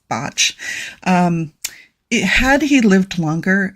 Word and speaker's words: Bach: And it looks like Bach, but he was Welsh and it's pronounced Botch.